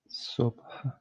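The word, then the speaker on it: صبح: And at last we have subh. Subh means morning. Subh. But in casually speaking, you wouldn't really hear the he sound here.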